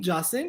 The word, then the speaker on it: Jasim: His name, how do you pronounce it? He's Jasim here.